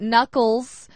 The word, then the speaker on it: knuckles: And the pronunciation, because it starts with the letter K.